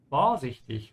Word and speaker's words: vorsichtig: Yeah, and careful with the pronunciation of careful. Yeah, you have to stretch the O. Vorsichtig, Computer.